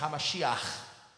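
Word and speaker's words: המשיח: Cristo, ele era o Hamashia, ou como eu disse aqui brincando de manhã, a pronúncia é Hamashiach, com um R no final, né?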